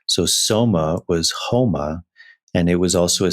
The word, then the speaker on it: homa: had a substance called houma and and in farsi you don't pronounce the s you pronounce it like an h so soma was homa and it was also